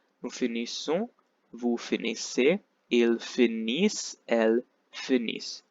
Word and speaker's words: finissent: Nous finissons, vous finissez, ils finissent, elles finissent. You have to stop pronouncing before the ENT.